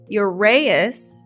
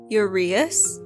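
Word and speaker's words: uraeus: to make a few corrections so i said urayus for when we were talking about the eye of ra it is actually pronounced urease and also when i was referring to the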